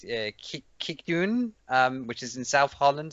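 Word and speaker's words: Kijkduin: descend on protected beaches at I can't even pronounce the name. It's Kikdoen, which is in South Holland in the Netherlands.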